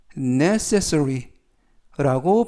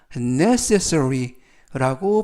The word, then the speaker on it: necessary: 되겠습니다 이번 표은 necess necessary라고 발음하시면 되겠고요 어 발음이 약간 어렵습니다 강세를 알려 드리면 첫부분에 있는 알파벳 2에 강세가 있고요 necessary라고 발음하시면 되겠습니다 품사는 형용사 뜻은 꼭 필요한